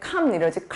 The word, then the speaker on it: calm: 그래서 예를 들어 조용한 할 때 calm 이러질 않죠.